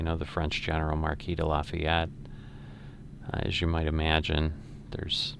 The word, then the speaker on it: Lafayette: i had lived um they have lafayette is how they say it they don't say lafayette um and similarly most